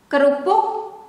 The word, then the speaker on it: kerupuk: Kerupuk, kerupuk, ke, whether with E here, in English is E, but in Indonesian is E. Kerupuk, kerupuk, or without the E, we pronounce it, but the formal way to write it is with this E, or in English E. Kerupuk or kerupuk.